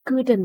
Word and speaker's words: could: She couldn't ada could not. Kalau disingkat boleh tidak. Couldn't atau could not. Jangan kata could ya. Could, L-nya silent, jangan diucapkan could not find her glasses last night.